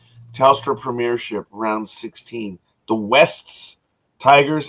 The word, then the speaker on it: Wests Tigers: The Wests Tigers, and I pronounce it because it's Wests.